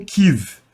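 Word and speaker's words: Kyiv: que eu tô falando kive porque essa é a pronúncia correta do nome da cidade ou melhor é pronúncia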